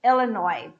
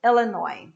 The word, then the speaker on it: Illinois: and and the last one illinois el nino illinois i don't pronounce the final ass okay elenoy illinois all right so these are the words and